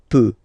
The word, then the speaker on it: peux: So je peux, okay? Final X not pronounced here, okay? So you've got the X, but you don't pronounce it. So basically you get the sound peut, je peux, okay?